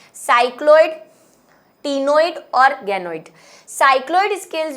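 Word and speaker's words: ctenoid: दूसरा, इनके शरीर पर साइक्लोइड स्केल्स, कहानी में ट्विस्ट, टीनोइड स्केल्स, यानी कि देखिए टीनोइड की स्पेलिंग में सी आता है, ये गलत नहीं है, सही है, सी साइलेंट है, ठीक है।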